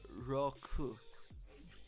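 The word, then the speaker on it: ろく: 6 is, I remember it's roku. Roku. So roku. And I got corrected on that in Minecraft last night, that I was saying it wrong, which I knew I was, but it's hard to hear sometimes. I've never heard these kind of pronunciations like very commonly. So roku is the correct way.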